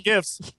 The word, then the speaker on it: GIF: And I was like, well, the creator of the GIF says that it's pronounced GIF, so whatever. But let's be honest, GIF sounds so much better.